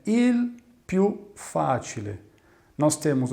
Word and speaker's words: il: Então é um som quel, il, l. Não tem som de U, como é normalmente pronunciado o L no final de uma palavra na língua portuguesa.